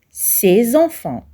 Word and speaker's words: ces enfants: nom qui l'accompagne enfant je prononce ces enfants le s en liaison se prononce Z ces enfants je relis